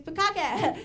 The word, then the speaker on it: bukkake: It's bukkake. It's the short vowel, right?